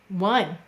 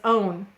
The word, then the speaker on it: one: In lesson 64, we learn how to spell the word one. Which sound is an exception in one? Well, this looks like it says own.